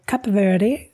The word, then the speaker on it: Cape Verde: And then from the UK, after a few days in the UK, we then went to Cape Verde, or Cap Verde, as others would pronounce it.